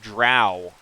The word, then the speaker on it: drow: how to pronounce that, the Sage made a joke by saying that it rhymed with R-O-W, which can be pronounced row or row.